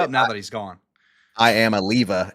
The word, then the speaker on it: Iamaleava: I am a leva is how we pronounce it now, right?